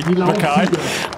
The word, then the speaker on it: Mackay: Ewan Mackay. pronounce it how you will. We say Makai.